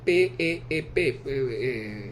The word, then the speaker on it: PEEP: la expiración, sería PEP, no se pronuncia PIP, pero no es con I, es PEEP, presión positiva al final